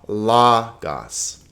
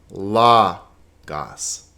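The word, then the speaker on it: λόγος: are two vowels ha la gas now notice it's not lagas because the accent is over the first syllable lagos now what do you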